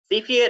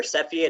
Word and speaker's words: Cepheid: Cepheid or Cepheid, I've heard it pronounced both ways.